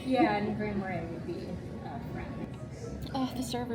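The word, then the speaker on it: Grand Marais: How do you pronounce the name of the city? Grand Marray. Grand Marray.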